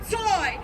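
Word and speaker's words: Tsui: That's T-S-U-I, pronounced Zoy.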